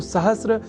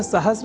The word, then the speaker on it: सहस्र: पर हम जब अर्ध सकार के बाद र इस अक्षर का ध्यान रख लें तो सहस्त्र इस शब्द के प्रयोग में हम अपने आप को अच्छी स्थिति में पाएंगे अर्थात उसका अशुद्ध उच्चारण नहीं करेंगे। तो यह शब्द सहस्त्र इस रूप में ही सर्वथा शुद्ध है।